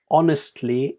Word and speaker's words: honestly: So the word honestly is without an H sound, but you might put